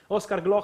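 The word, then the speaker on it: Oscar Gloukh: the big israelian Talent tell me the perfect pronunciation how isar GL Glo okay Oscar Glo to Red Bull sburg uh a very important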